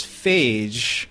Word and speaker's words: Phage: See, there's fage, which is the way we pronounce this episode, and then there's fier, which is the yogurt.